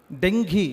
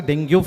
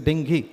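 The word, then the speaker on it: dengue: Dengi it should be pronounced as it is not a dingu fever. It is a dinghi actually.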